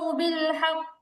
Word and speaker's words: بالحق: এখন এখন এই যে বিল হাক্কি শব্দটা, কফ হচ্ছে কলকলার হরফ, কলকলার হরফে যদি তাসদীদ থাকে তাহলে ওয়াকফ করলে উচ্চারণটা শক্ত হয়, কলকলার হরফে যদি তাসদীদ থাকে ওয়াকফ করলে উচ্চারণ শক্ত হয়। তাহলে এখানে কলকলা হরফে তাসদীদ আছে, ওয়াকফ করার কারণে উচ্চারণটা শক্ত হবে।